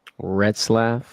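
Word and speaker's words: Retzlaff: Red Slaf. It's re tz l a f. I could be butchering it.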